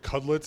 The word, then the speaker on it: Cudlitz: Is it Cudlitz?